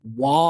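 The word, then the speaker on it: Waugh: So you have a lot of actors in this, and it's directed by a guy named Rick Roman Wall, I think is how you pronounce it.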